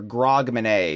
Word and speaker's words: Grogmanay: It's for Grogmanay because it rhymes with Hogmanay.